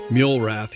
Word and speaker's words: Muelrath: And my guest is Mulrath. Did I pronounce that right? Mulrath. You got to think of it as m u l e rath.